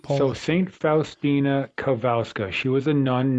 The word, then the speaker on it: Kowalska: Is it Kowalska? Uh actually it's Kavalska. Kavska. The W is a V and right. So St. Fina Kavalska.